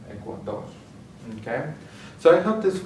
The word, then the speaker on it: Ecuador: And finally, ends with an R, so we're going to stress the last syllable, Ecuador.